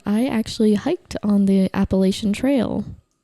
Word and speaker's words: Appalachian: The Appalachian Mountains. Thank you for pronouncing it the way I've heard it on the east coast for my entire life.